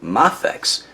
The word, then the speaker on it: Mafex: at the flusche that May faxes actually pronounced Moff X so i guess i pronouncing it and correctly this whole time but i'm gonna keep